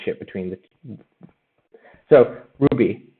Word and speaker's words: RWBY: between the two so ruby uh it's spelled dumb that's one of the main graphs of the not being clips it's just one of the fun things about the show is that the show is called ruby but then the four main characters the first character is called ruby rhodes and the ruby the show is spelled rwby but ruby rose is both